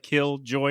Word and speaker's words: Killjoy: Killjoy. It's like a sentence. Yeah, sentence. Like we're telling you to kill joy.